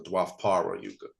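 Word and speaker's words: Dvapara Yuga: And so when we go back to, let's say, the descending Copper Yuga, I think it's pronounced the Dwapara Yuga.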